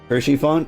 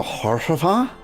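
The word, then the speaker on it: Haurchefant: Hersheyfont is how I pronounce it most of the time. I think I go Horshafant.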